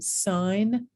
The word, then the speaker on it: sign: morphemes so for instance look at these silent letters in sign bomb and him you might be thinking why can't you just drop the silent letter but look what happens when we get signature bombardment and him no okay and now all of a sudden i hear that silent letter okay so you don't